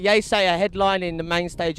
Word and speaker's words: Yeasayer: from London he's Anand but it's actually Anand without here like yay say a headline in the main